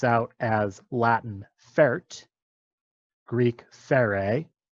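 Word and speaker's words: φέρει: So here is a root that comes out as Latin fert, Greek fere, or probably better pronounced as pere, with a puff of breath instead of f like you're used to.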